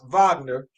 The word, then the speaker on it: Wagner: Franz Wagner, and I think he's German, so I always got to pronounce some W's as V's. Franz Wagner, he got the same contract, and it's the rookie contract.